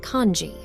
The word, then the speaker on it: Kinzi: Neris begins to explain that the Kinzi that Megara translated as a human name in Verlian is pronounced kanji.